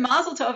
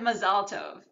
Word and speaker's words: mazal tov: They learn how to use the Hebrew words in an American accent, right? And they learn mazel tov instead of mazal tov.